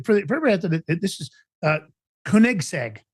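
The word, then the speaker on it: Koenigsegg: So, for the for everybody, this is uh Kunigseg is how it's pronounced.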